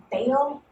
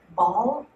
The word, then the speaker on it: Baal: Well, she worshiped this pagan god, and there are various ways to pronounce this name, so I'm going to just run through them all. It can either be called Baal, Baal, or Baal. And I'm from the South,